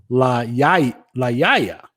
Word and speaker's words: La Jolla: Now that I think about it, if it's a Spanish, that would be La Yaya. There would be no pronunciation of the L's.